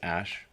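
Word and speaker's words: Æ: name these children before you start a revolution pronounced ash Joe Rogan's Rosenman and then a 12 a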